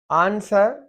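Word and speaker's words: answer: आंसर, question, question का आंसर, आंसर W silent है, आंसर।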